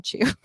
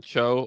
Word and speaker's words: Cho: I was talking about which is John Cho, not John Chu.